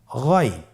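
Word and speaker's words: غين: আমরা অনেকে বলে থাকি গাইন, না, এটা ভুল উচ্চারণ। এভাবে উচ্চারণ করা যাবে না, যেহেতু হরফটি মোটা, এই জন্য মোটা করে উচ্চারণ করতে হবে গইন।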